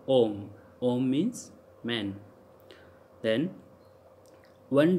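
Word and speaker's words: homme: H is never pronounced in French language. Like if H is starting in any word, that would be silent. Like for example, om. So how we call om? Because H is silent here, so om.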